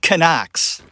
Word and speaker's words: Knox: that in the dock the Italians pronounce knocks Amanda's last name with actually pronouncing the K they say Amanda can acts I like to point